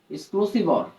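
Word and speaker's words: XOR: বলে এটাকে আসলে বলে এক্সর গেট এই এক্সজর গেটটাকে কিভাবে লেখা হয় এ এক্সজরবি ওকে এবারবি প্লাস এবি বার এটাকে কি লেখা হয় এ এক্সরবি এটাকে একজন উচ্চারণ করা হয় এক্সক্লুসিভর ঠিক আছে তোমরা যারা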